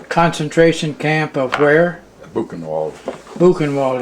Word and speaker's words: Buchenwald: Buchenwald is how you pronounce it, huh?